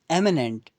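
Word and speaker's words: imminent: okay the next is एमिनेंट versus एमिनेंट pronounce एशन आपको same ही मिलेगी लेकिन यहां पर लेटर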